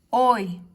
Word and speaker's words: hoy: En esta ocasión, la H, recordemos que se le dice la H muda. Y es como si no existiera, ¿sí? Por lo que sería como si estuviera la O.